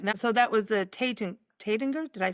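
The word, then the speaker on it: Taittinger: Mum, you went to Lanson, or do they pronounce that different too? Uh, Tatinger, oh, J. Tatanjay.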